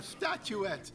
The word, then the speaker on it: statuette: a lovely quest a statuette it's a thong waiting to be written statuettes it rhymes with brunette baguette secret and quartets sweet brunette done your